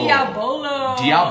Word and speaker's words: Diabolo: Today we're going to have, Brian helped me learn how to pronounce this a couple shows ago. Diabolo.